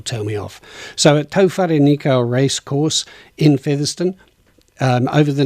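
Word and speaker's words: Tauherenikau: be to nico so i'm going to start pronouncing it like that and then people will tell me off so at tofari nico racecourse in featherston over the next three days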